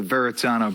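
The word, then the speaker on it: Verrazzano: tolling went into effect at the veritana bridge i'm pronouncing it that way because i now have two r's and twosies in the spelling under the new system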